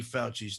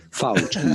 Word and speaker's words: Fauci: Fauci. Yes, in Italian, the C is pronounced like CH.